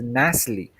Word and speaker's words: NaCly: The perfect pronunciation for that name is NaCly.